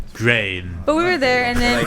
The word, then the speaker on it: Gruene: It just bothers me how they spell it. Like, Oh. Gruene. yeah. Yeah, it's It's weird. weird. But Grain.